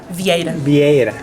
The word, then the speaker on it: Vieira: Vieira. Vieira.